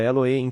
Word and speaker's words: Elohim: A palavra Deus é Elohim, pronúncia Elohim, que é uma unidade composta de um feito de muitos.